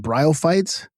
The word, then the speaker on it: bryophytes: And how do you pronounce that word? Are they what are they called? Bryophites.